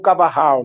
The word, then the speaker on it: Carvajal: registrado pelo cronista da expedição, Frei Gaspar de Carvajal, o Cavarral, né, conforme queiram a pronúncia.